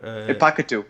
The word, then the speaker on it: Pakitu: Is it Jeremy Passit? How do you put? Pakitu. Oh, Pakitu.